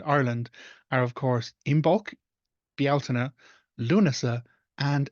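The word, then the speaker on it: Bealtaine: be is s um also it's never belan it's Bel so those are the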